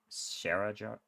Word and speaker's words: Scarazard: I forgot to mention Scarazard's SCH is pronounced like in German, which would be SH, so Scarazard?